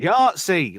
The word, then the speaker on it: Yahtzee: Yahtzee, like the game, you tit.